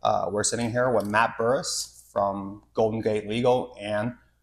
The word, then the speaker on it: Bourhis: It's a French name. Is it French? It's technically Bourhis. What's Bourhis? Bourhis is the French pronunciation of my last name, but we really? butchered that when my family came to the U.S.